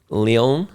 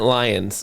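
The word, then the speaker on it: Lyon: I'll we we mentioned a place in France many times, Leon. Leon. Yeah. Yeah. Well, I've been calling it Lions because it's spelled L Y O N.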